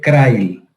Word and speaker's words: Crile: que en este caso se escribirá Crail como se está en forma de, se escribe Crile y se dice Crail.